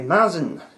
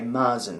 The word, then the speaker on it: Märzen: It's a Märzen, difficult to say with an English accent, but it is not a Märzen, which is how it's spelled, not like Mars bar. That is the wrong way to say it, and you'll get funny looks if you say it over there in such a way, so we shan't do that.